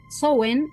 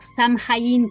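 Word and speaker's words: Samhain: Y la última recomendación de libros que les traigo es Swen o Sam Hain, que se escribe Sen, una completa guía para la celebración de la festividad celta de Diana Rachel.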